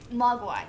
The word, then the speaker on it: Mogwai: called gizmo and which is how do you pronounce what he is cuz I can poke Y mock Y Mogwai yes and the grandfather didn't want to sell